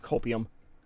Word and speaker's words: copium: I do enjoy getting plenty of copium. Job. Copium. Rhymes with opium, but don't get those two confused.